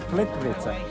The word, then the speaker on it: Plitvice: I also learned how to correctly pronounce this park's name from local people on the cruise. Where is it? Okay. Plitvice.